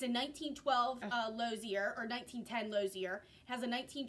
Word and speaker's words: Lozier: of her in her, I think it's pronounced a Lozier, mm-hmm. touring car. It's a 1912 Lozier, or 1910 Lozier.